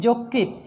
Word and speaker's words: যকৃত: আদ্য অয়ের পরে যদি রিকার থাকে সেই অয়ের উচ্চারণ কি হবে? ও এর মতো হবে। উদাহরণগুলো খেয়াল করো, মসৃণ মোস, দেখো লিখেছি মসৃণ উচ্চারণ করছি মসৃণ, লিখেছি যকৃত উচ্চারণ করছি যকৃত, লিখেছি বক্তৃতা উচ্চারণ করছি বক্তৃতা, ওকে।